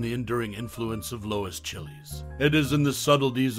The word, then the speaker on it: Chiles: the comments below Lois Chili's distinguished by her resident name pronounced like files with a CH has left an indelible